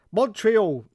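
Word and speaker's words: Montréal: Face says, Montreal, where the tea is silent to French speaking locals.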